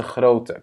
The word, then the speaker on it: grootte: Wat is de grootte? Quelle est la taille de grootte? Yeah? On le prononce de la même manière.